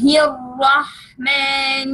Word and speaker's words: الرحمن: I said to you yesterday, this is we have to pronounce the ra with shadda, means to ra. بسم الله الرحمن الرحيم.